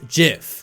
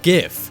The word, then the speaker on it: GIF: format let everyone no it's pronounced jiff not gif but come on guys